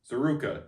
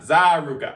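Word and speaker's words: ZaRuca: Zeruka, not Zaruka.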